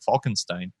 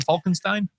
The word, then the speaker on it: Falkenstein: castle falkenstein steinstein uh different people pronounce it different ways i switch back and forth depending on how lazy i feel today and whether i want to get that extra german into it or not gotcha so when when you're